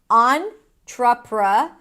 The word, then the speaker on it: entrepreneur: The first syllable is on. On. Like, turn it on. On. So, don't be deceived by the e here. It's an ah as in father. Then we have tr and awah. Tr together create a ch sound tr. Then pra. That's it. On trra. And then the final syllable. You can play with it. You can either say nor. I've heard people saying nor with a y sound.